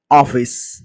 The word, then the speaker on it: office: இதை நாம இங்கிலீஷ்ல OFFICE ஆஃபீஸ் ஆஃபீஸ் ஆஃபீஸ் அப்படின்னு உச்சரிக்கணும். இதில் ஆபீஸ் அப்படின்னு தமிழ்ல சொல்றோம், ஆபீஸ். ஆனா இந்த உச்சரிப்பு முறையும் சிறிய மிஸ்டேக்ஸ் இருக்கு. ஆனா இங்க வந்து ஆ சவுண்டு கிடையாது. ஆஃபீஸ் அப்படின்னு தான் படிக்கணும்.